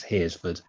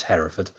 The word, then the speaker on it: Hereford: Yeah, he can't pronounce Hereford. He pronounces it Heresford, which everyone likes. Welcome to Heresford. Yeah, exactly. No one says Hereford. It's Hereford.